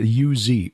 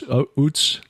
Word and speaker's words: Uz: Job, and that is, how would you pronounce it? U-Z, Uz, Utz? Uz, that's right.